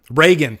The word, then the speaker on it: Regan: end of the movie is it Regan or Reagan damn it I always get when I I say it wrong and then I forget what I say so yeah um so the I think the the one thing that David Gordon green has going for him Reagan thank you very much so I said it right the first time Chris thank you I